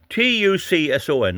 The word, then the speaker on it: Tucson: The affected products are Tuscons, T-U-S-C-S-O-N, T-U-C-S-O-N, I'll spell it again for you, T-U-C, Tucson, S-O-N. I think that's the same as Tucson, Arizona.